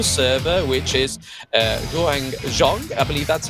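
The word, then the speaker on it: Huang Zhong: Champion to the server which which is uh hang Jong I believe that's how you say his name yep it is hang xong he's is a one of the furthest ranged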